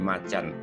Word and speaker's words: Macan: bahwa nama kacung diganti sebagai Macan dalam pelafalan Inggris Bahkan mereka menekankan frase macam agar tak salah sebut bersumber dari pihak Korsel